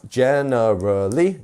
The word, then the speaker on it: generally: not generally generally we we are pronouncing that gen much stronger uh next up we